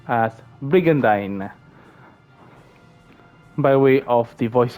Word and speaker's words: Brigandine: the game itself will tell you that it's pronounced as brigandine by way of the voice actors during the cutscenes so brigandine not brigandine as people call it let's see now